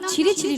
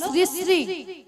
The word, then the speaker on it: শ্রী শ্রী: আরে মাসি ওনার নাম ছিরি ছিরি নয়, বলো শ্রী শ্রী, বলো শ্রী শ্রী।